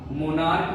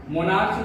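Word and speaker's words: monarch: इसी तरीका से आपका मोनार्क भी है ना, मोनार्च नहीं है तो इसको भी मोनार्क्स एस लगाएंगे, समझ गए।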